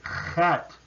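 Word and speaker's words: חית: And it is a het. So it's a little bit back in the throat.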